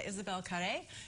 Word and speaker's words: Isabelle Carré: And then this woman comes along, and her name is Louise, and she's played by Isabelle Carré. Did I pronounce that right?